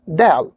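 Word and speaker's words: دال: And if you want to pronounce this letter correctly, you have to make your tongue, or you have to make your tongue to touch or to attach the beginning of your teeth here.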